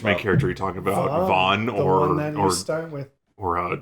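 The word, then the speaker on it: Vaan: think he's okay uh if you had not pronounced it his name is vaughn i would have said his name is van you know which one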